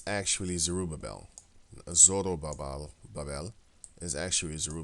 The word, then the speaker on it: Zerubbabel: ruby belt because like I said mmm they spell it different here sir uber Bell it's actually zerubbabel zerubbabel Bell is actually zero bevelle the latin